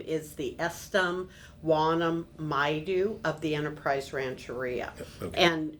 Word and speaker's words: Estom Yumeka Maidu: Uh the tribe's name is the Estam Wanam Maidu of the Enterprise Rancheria.